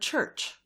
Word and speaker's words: church: do you mean by ch pronounced soft as it is pronounced in the word church in the word monarch it is said to be pronounced hard and then only s